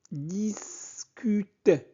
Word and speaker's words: discutent: Voilà donc e n t est la marque du pluriel. Donc on ne prononce pas t, on prononce discut de